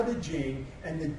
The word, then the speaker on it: Ching: The Jing, if there's an apostrophe after the CH, then it's pronounced Ching.